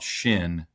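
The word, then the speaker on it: Chêne: a a um water foul specific company called Shin that and they tell me that's how you pronounce it.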